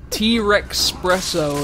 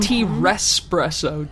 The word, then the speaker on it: T-Rexpresso: T-Rexpresso. It's pronounced T-Respresso.